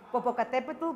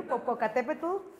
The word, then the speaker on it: Popocatépetl: So yes, that's the name. And the pronunciation is like this. So you want to repeat it in your home. So that's the way. And there's another way to say it right here, Popocatépetl.